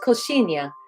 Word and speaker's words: coxinha: It's called coxinha, but it's spelled COX. Okay. Coxinha. And so that she sound is like the sound of the water, the shoo, shoo, shoo.